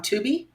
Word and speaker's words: Tubi: I rented this one, but also the other movies were on Tubi. Yeah. Okay. Is that how you pronounce it?